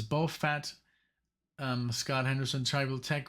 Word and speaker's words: Bofat: so this is it the way it's pronounced as ball fat uh it's even two words both fat um Scott Henderson tribal